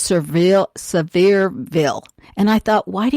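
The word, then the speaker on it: Sevierville: that far from me is what looks like seaverville but it's pronounced surveill severeville and i thought why do you want to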